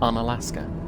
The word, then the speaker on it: Unalaska: today i have also google searched how to pronounce unalaska because i didn't know is it you know unalaska unalaska something like that is just apparently on alaska fair to say that